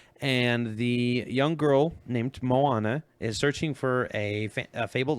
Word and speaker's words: Moana: Moana. Moana. I would say is how I would pronounce that.